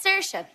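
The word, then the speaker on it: Saoirse: some would say too Irish it's uh it's serious it means freedom but I've got a little problem you see it's spelled well it's spelled wrong it's it's a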